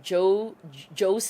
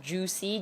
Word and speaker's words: Joocyee: Anyway, let's use this mirror that I got from Joe Jo. Actually, it's pronounced Juicy. J O O C Y C Y E E.